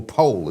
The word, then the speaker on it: Powell: Jonathan Powell or Pole as some people like to pronounce it.